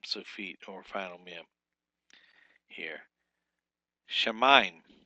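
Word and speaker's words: שָׁמַיִם: breaking them in syllables you got the shamim not shim it's not three syllables it's two syllables Sha Sha mime and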